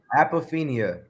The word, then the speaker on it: apophenia: How do you pronounce it? Apophenia.